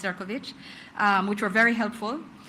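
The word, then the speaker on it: Šefčovič: Yes, spelled Sephovich pronounced Ciroich.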